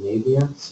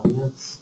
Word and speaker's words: Naviance: One is called Naviance, or Naviance, as I pronounce it.